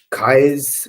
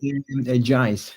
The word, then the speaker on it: Jais: Kai's coin did I pronounce that correctly? Jais with the J.